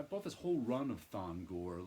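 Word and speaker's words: Thongor: pretty nice piece um i always want to put an extra syllable in that and call him fona gore but it's thon gore creatures on the loose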